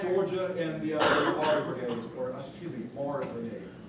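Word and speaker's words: Meagher: Fight against 24th Georgia and the Mahar Brigade, Mahar Brigade. Mahar Brigade, as it's pronounced.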